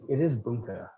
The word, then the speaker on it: bunka: It is bunka. That's right. I always say bunka. Yeah. Bunka is the right way to say it.